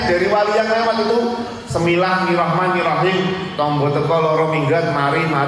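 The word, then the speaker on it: بسم الله الرحمن الرحيم: Semilah Nirahman Nirahim. Harusnya Bismillahirrahmanirrahim. Karena beliau mendengarkannya dari wali yang lewat itu Bismillahirrahmanirrahim.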